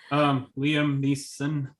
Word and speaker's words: Liam Neeson: Liam Neeson, I think is how you Yes.